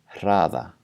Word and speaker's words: hraða: So compare these two words. One has a normal R and one has a voiceless R. Raða, and hraða.